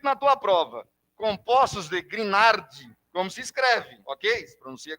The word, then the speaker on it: Grignard: na verdade né beleza voltando a pronúncia em francês seria greenhard aqui que interessa que se aparecer escrito na tua prova compostos de grignard vamos escreve Ok vamos